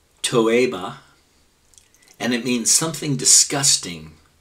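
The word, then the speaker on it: תּוֹעֵבָה: it's from Hebrew number 8 441 which is pronounced toea and it means something disgusting and abhorent especially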